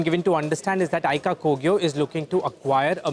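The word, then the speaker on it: Aica Kogyo: sources say a deal between Stylum Industries and Aika Kogyo is back on the table. Yash joins in with the details. Yash, am I pronouncing it correct?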